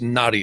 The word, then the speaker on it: naadi: referred to as naadi it's pronounced naughty astrology and many people